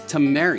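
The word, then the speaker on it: Tameri: success next game is Tam Mar I believe that's how you pronounce it t m e r i it's 1 to four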